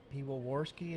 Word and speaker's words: Piwowarski: I believe it's Piwowarski. Piwowarski is how you pronounce it when we're talking about.